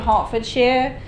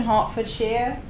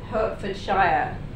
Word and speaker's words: Hertfordshire: not I'm from a town called Watford in Hartford shear this is the correct pronunciation Hartford shear the incorrect you might people think he Hertfordshire it's not how you say it but but